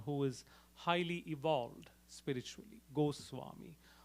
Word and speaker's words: Goswami: Goswami. Also sometimes in colloquial terms, or in regional, with the regional language influence, it is otherwise known, pronounced as Gosai, etc.